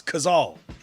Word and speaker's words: Cazal: saying it wrong people people pronouncing it like the animal ah in africa wrong for years it's kazaal i mean yo the